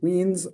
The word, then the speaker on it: Wiens: For those of you without a German background, Wiens rhymes with beans.